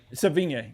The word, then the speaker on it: Sevigny: Chloe, I can never pronounce the last name. Chloe Sevigny? Sevigny, yeah.